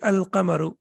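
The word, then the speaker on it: القمر: be a shimsu and here the lime is pronounced and the correct pronunciation will be al-kamaru um and then we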